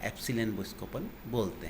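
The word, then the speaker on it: epsilon: समानुपाती की चिन्ह की जगह अपन ने स्थिरांक लगाया जिसको का प्रोनाउंसिएशन अपन कह रहे हैं एप्सिलॉन, इसको अपन बोलते हैं।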